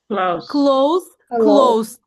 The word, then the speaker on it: close: Because it's spelled with an S, but it's not pronounced like an S. It's pronounced like Z.